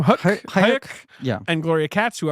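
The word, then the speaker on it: Huyck: Hayek.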